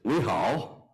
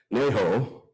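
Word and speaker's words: 你好: So how you say hi in Mandarin is ni hao, but how you say it in Hong Kong, where they speak Cantonese, is ne ho. So it's similar. Actually, the writing was identical, but they speak it differently. They pronounce the words differently.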